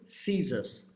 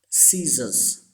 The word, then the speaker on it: scissors: Say this word: scissors. All these letters are silent. We don't pronounce these letters. Scissors. And this S gives the sound of Z, and this S also gives the sound of Z. Scissors.